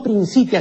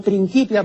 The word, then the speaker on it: Principia: que dice principia matemática no principia sino principia porque eh la c delante de vocal se pronuncia como q no Entonces es principia matemática